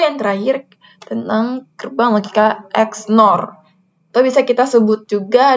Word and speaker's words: XNOR: Jadi kita bacanya dari SNOR, XNOR, bukan SOR B gitu.